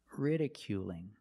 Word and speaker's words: ridiculing: the verb with ing ridiculing is the L A dark l or a light L that's right it's a light L because it's between vowels it's different ridiculing ridiculing you still have